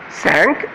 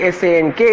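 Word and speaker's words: cinq: French it's cat cat sank it sounds like s a n k in English but it's written as c i n q sank and and C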